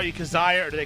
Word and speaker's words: Kizziah: me your last name I tried to say kazah did I say it right you did not okay I'm sorry for